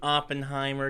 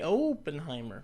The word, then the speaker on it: Oppenheimer: J Roberts Oppenheimer I gotta try to say Oppenheimer because that's how you pronounce it I but I am that oh just looks so large in his name it makes me want to say openheimer but Oppenheimer Oppenheimer uh played by Cillian Murphy